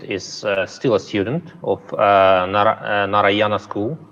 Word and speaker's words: Narayana: Now, I just have to know that Rishit is still a student of Narayana School. Am I pronouncing it right? Narayana? Yeah, that's right.